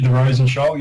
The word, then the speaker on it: Rosenshoul: The Rosenshoul, you said it right.